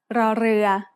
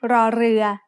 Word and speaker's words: ร: In other words, this is an R sound with a trill. Not everyone can make this sound easily, but you can get better with practice. When รอเรือ is the final consonant